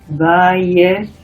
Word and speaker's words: Weierstrass: Para pronunciarlo así, Weierstrass.